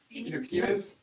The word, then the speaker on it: chilaquiles: Chilaquiles? Chilaquiles Okay. is how it's said.